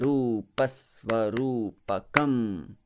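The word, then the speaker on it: Rūpasvarūpakam: That Pasvarupakam, that is also, even though the Rupa, that Pa has a short vowel sound, but the syllable is heavy here, and therefore I express that heaviness by slightly prolonging that Sva, that S sound in Svarupakam.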